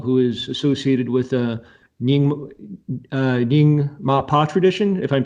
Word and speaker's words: Nyingma: Dzogchen master Padmasambhava, who is associated with the Nyingma tradition, if I'm pronouncing that correctly. Yes, so, absolutely. You did correct. Okay. So in the 8th century, the great master Padmasambhava, who's primarily in the Nyingma tradition, but also there's a connection in the